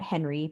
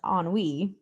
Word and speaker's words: Henry: You probably pronounce that Henry, but this guy's actually not American. It's pronounced oni.